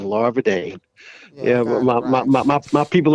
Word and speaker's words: Larvadain: oh lava day yeah larva dang yes ma'am spell it l-a-r v as in victor a e a i n larva dane yeah my my my people are from assumption